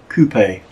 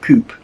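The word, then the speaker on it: coupé: It's a French word, so it's actually pronounced coupe, not coupe.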